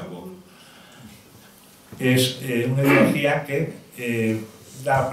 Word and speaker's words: woke: La ideología woke, si hay alguno anglosajón aquí se pronuncia woke, es una ideología que da predominio al pensamiento débil y lo convierte en un pensamiento fuerte.